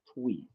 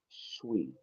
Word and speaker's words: Twi: Uh, Shui, I think it's called Shui. It's spelled like it's pronounced Twi, but it's actually Shui.